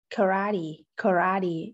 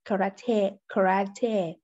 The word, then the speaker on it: karate: An American or an Australian would say it like karate, and a British would say karate. However, no normal native would say it the way Ross said it, probably in an attempt to pronounce it as a Japanese karate.